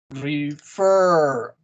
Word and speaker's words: refer: This is important because in the next example, you have second syllable stress. Refer. La segunda sílaba está acentuada.